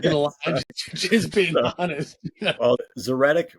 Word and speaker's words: Zoretic: lie just being honest zeric rhymes with phonetic so that it makes